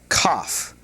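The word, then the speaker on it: כ: And this is pronounced cough. Cough. Just like uh you know when you got a cold and you're you're coughing.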